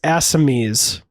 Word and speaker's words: Assamese: It's Assamese. Assamese? Yeah. Sure. Fantastic. That's what I said. Hey. That's why it's Jollywood. Is that Jollywood? Yeah, that would be Jollywood. It's the gotcha. Assamese language motion pictures.